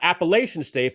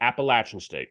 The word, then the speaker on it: Appalachian State: I do like them getting points now against the Mountaineers of not Appalachian State, but Appalachian State. Yes, they love to pronounce it that way and make everybody aware of that.